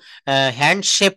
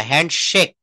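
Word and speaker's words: handshake: আমরা অনেক সময় বলি দেখবেন গ্রামের শিক্ষিতরাও আমরা অনেক ভুল বলি কিন্তু বলে যে আসো তো তোমার সাথে একটু হ্যান্ডশেপ করি হ্যান্ডশেপ না হ্যান্ডশেক হ্যান্ডশেক এই শক থেকে এসেছে শেক অর্থাৎ ঝাড়ি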